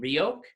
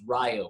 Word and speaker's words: Riok: make it known that the original pronunciation of his name as it was given to me was rio so more of a y than an i but um you can